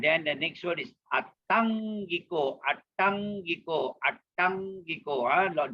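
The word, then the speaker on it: aṭṭhaṅgiko: And then the next word is Attangiko, Attangiko, Attangiko. Double T, and that T has a dot below, so it is going to be retroflex. Attangiko, Attangiko.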